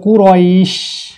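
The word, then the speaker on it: قريش: তিনটে হরফ জিউভার মাঝ উপরের তালুর সঙ্গে লেগে উচ্চারণ হবে। বলবো এইখানে কিন্তু একটা শব্দ হবে এরকম শব্দ, তাহলে কুরাইশ।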